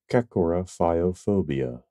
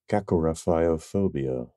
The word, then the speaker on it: Kakorrhaphiophobia: Well, it's pronounced Kakorrhaphiophobia. Kakorrhaphiophobia.